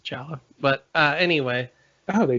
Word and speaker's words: giallo: anyone's confused but um giallo uh but they pronounce it challah but uh anyway oh